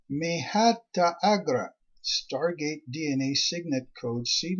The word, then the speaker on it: Mahata Agra: Tribe 7, Mahata Agra, pronounced Mehata Agra.